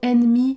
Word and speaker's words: ennemi: deux exceptions par exemple le mot ennemi débute par e n n et c'est vrai que dans ce cas nous prononçons n n ennemi mais généralement retenez